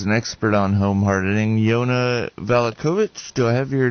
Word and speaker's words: Yana Valachovic: guest today is an expert on home hardening yona valakovic do i have your name pronounced correctly correct correct alikovic got it um